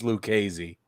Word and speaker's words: Lucchesi: runs on the fifth is it lucessi or Lucchesi is that how you say his name Lucas I think it's lucasy Lucchesi I think you're right when four Innings pitch gave